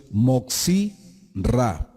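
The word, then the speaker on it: Motzi Ra: Un término que es nuevo en este estudio es Moxi Ra. ¿Qué quiere decir eso al español? El que difunde lo malo. Moxi Ra. Se escribe con M mayúscula, O, T, Z, I, separado, R, A.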